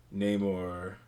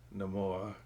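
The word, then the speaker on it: Namor: got a decent amount of name or or if you want to pronounce it no more oh yeah no more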